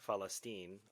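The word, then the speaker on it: فلسطين: Palestinians, pronounced Falastinians, and Palestine, Falastine, are the names the Palestinian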